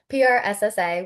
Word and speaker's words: PRSSA: And I also know you're a treasurer of is it pronounced pressa or prssa? P RSSA.